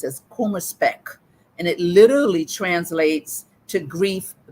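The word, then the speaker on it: Kummerspeck: there's a German word um that is uh pronounced as Puma spec and it literally translates to grief bacon grief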